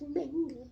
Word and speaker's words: manga: Mama, it's not manga, it's manga.